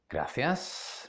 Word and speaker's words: gracias: I'm sorry perdón in condado perdón perdón okay gracias my mother always told me to say gracias